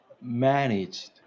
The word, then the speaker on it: managed: managed. Very good. So you're going to have like a Managed. soft T at the end.